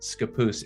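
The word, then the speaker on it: Scappoose: how to pronounce that skapoose is the way uh that at least we say it here so hopefully that was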